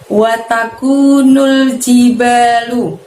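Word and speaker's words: وَتَكُونُ الْجِبَالُ: Wataku, kunya tadi pangkal lidahnya tidak perlu menyentuh langit-langit ya, tipis ya. Wataku, kunya panjangnya 2 harokat, nul pendek nulnya, jiba banyak panjangnya 2 ya, lalu lu watakunul jibalu.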